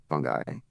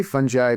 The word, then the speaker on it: fungi: There are technically, I think, like eight proper in English, eight proper ways to pronounce fungi. So I say fungi because that was the way I like people I kind of learned mycology from at the time. We're saying it that way, which I really just love the "jai" part.